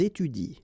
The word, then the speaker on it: étudient: this and t, and actually it will be exactly the same rule because you don't pronounce this and then even if it's at the plural form, so and t, well, you don't pronounce it, so you will get ils étudient. All right, ils étudient. You don't pronounce that.